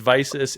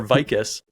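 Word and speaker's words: Vicis: It's Visus, it's Riddell, it's Shut, and it's Zenith. That's how they're pronounced.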